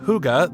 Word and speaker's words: hygge: Pronounced hygge, this isn't just a word, it's a way of life that's as quintessentially Danish as Viking legends and Lego bricks.